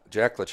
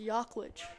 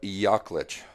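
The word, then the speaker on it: Jaklich: That's actually pronounced Yaklich. Really? Yes. Nice. Well, Jacob Yaklich. Nice play by Yaklich.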